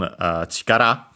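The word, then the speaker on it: 力: Then we have the noun chikara. We have seen it before, accented on the last syllable.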